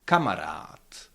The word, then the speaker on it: kamarád: You need to keep in mind that the first syllable is always stressed.